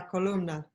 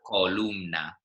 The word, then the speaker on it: columna: Columna. Yeah, so it's not columna, which is kind of how we might pronounce it in English, but we really need to make the O and the U.